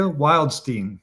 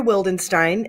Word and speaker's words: Wildenstein: Today, I have the great pleasure of introducing your good neighbor, Demetria Wildstein.